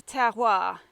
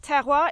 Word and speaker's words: terroir: really do change the terroir now remember how pronounced terroir it's like tear tear a bit of paper and then hua terroir so the terroir here